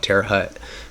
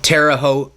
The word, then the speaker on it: Terre Haute: Indiana and we go to a prison called Terre Haute Indiana Terre hut Terre Haute whatever you want to say some people call it Terre Haute some people call it Terre Hut just like some people called Lompoc Lompoc and